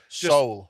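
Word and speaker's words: Seoul: that no soul soul soul S O soul resolutely ignoring that e yep okay and the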